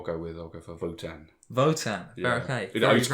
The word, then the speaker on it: WOTAN: I'll go for Votan. Votan, okay. I used to call it Wotan actually, but it's Votan. It's pronounced with a V.